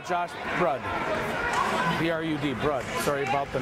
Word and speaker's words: Brud: B-R-U-D, Brud. Sorry about the mispronunciation.